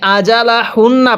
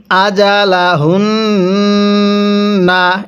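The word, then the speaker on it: أَجَلَهُنَّ: ফাবালা এরপরে আজালাহুনা। হ্যাঁ। কিভাবে পড়তে হবে? আজালা। এই জিমটা পড়ার সময় আমরা শক্তভাবে উচ্চারণ করব।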